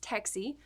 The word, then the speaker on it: TXSE: Earlier this month, the Texas Stock Exchange, or the TXSE, pronounced Texie, officially began trading, becoming